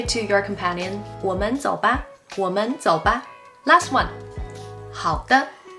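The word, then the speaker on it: 好的: your companion last one how the how the how means okay all right sure the here is pronounced with a neutral tone very light and quick how if someone asks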